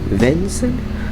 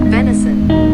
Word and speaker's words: venison: Vin VIN vinent V how the you pronounce that I'm sorry for gsen how do you pronounce that vent there you go prounciation okay so now I just all right there we go vinent how do you how do you say that venison venison all right there